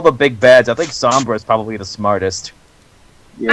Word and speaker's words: Sombra: I don't know why, but Sombra does for some reason all the blasts and shit. Sombra's concept kind of... I like how my boyfriend... Much, pronounces his name. It's not Sombra, he goes Sombry.